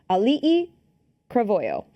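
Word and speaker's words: Auliʻi Cravalho: their own names, and I wrote them out phonetically, so I did try. Ali'i Cravoyo.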